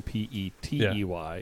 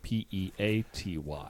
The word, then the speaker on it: Peaty: Not PD as in Petey. It's Peaty. yeah.